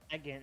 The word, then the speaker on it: Bagon: But they ended up Bagon. like updating it because this is how it ends up looking. Oh, okay. Yeah. Bagan. It's Bagan.